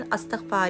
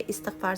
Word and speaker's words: Astaghfar: लेकिन अगर हमें पढ़ना है ना तो उसका प्रोनाउंसिएशन अस्तकफार ही सही वर्ड है। इस्तकफार सही नहीं है।